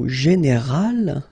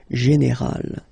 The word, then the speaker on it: général: But then phonetically it's quite interesting because you don't make any difference. You will get so général at the masculine form, and it will be exactly the same thing at the feminine form, général. Okay, so général masculin, général féminin. And then fatal, feminine form, you